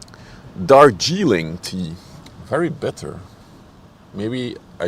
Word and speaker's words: Darjeeling: Not a fan of the Jarlín tea. How do you pronounce this? Darjeeling tea.